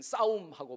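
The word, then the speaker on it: صوم: 네 번째 기둥은 싸움이라고 하는 건데 단식을 말합니다. 싸움, 우리나라 이 파이팅, 싸움하고 발음이 똑같아요. 이 싸움이에요.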